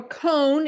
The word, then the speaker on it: Cone: It's Cone. It's ice cream cone, just in case you needed that pronunciation so you could remember it.